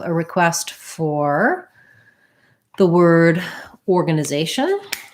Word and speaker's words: organization: for the word organization so this is a word that differs in american english and british english in american english or gonna say we stress the same in both so in american english we have an or then we have a schwa secondary stress on that first